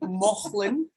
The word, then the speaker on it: Mauchline: So I strongly suggest if that you're around or near Mauchline, so you might see it spelled as Mouchline, but it's actually pronounced Mauchline.